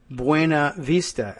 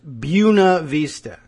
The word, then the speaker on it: Buena Vista: day it was, because that town of what would otherwise be Buena Vista in Virginia is insistent that it is pronounced Buena Vista. And if you go there, they'll say it's Buena Vista.